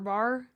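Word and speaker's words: barre: like Pilates and ballet so bar like ballet not like uh not like The Whiskey Bar yeah yeah so it's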